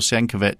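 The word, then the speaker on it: Sienkiewicz: point at which Bill Siankovic started uh drawing how it shankovich. I thought he I think he pronounces it.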